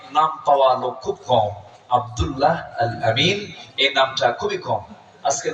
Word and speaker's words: আব্দুল্লাহ আল আমিন: নাই আব্দুল্লাহ আল আমিন আমার নামটা বলতেন আব্দুল্লাহ আল আলামিন আব্দুল্লাহ আলামিন এানে ভুল হয়ে যায় এই উচ্চারণটা খুব কঠিন আপনার এটাও ভুল হয়ে